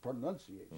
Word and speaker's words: pronunciation: Not pronounce it, pronunciation.